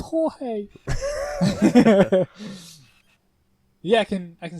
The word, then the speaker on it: Jorge: a gorge get up gorge it's pronounced jorge yeah i can i